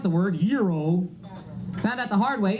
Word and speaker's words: gyro: have you tried this that's the way you pronounce the word Euro found out the hard way you know the word is spelled g y r o so I didn't know any better I walked